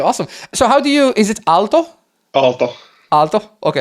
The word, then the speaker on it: Aalto: Aalto. Aalto? Okay. Aalto, yeah.